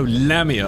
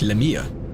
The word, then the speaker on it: Lamia: I go Lamia. I'm emphasizing the wrong part. The actual way to say it is more like Lamia.